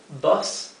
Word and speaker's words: bus: bus Omnibus bus bus la u en inglés se pronuncia normalmente e e Sí o sea eso es BS pero como no tenemos ese sonido en español en la fonética lo he escrito bas así como si fuera una a tenemos Motorcycle Motorcycle